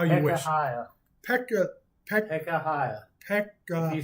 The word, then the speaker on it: Pekahiah: Pekahiah. Pekahiah. If you spell it right, it's Pekahiah.